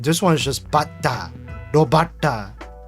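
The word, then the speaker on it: 炉端: I think the zero exposure to Japanese rules are that you see BATA, you just pronounce it very similarly to butter. So robata. But the thing is, butter doesn't even have that elongation, like bata. Like butter in Japanese is just bata, but this one is just bata, robata.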